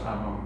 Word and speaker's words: Afon: Afon. Pronounced Avon.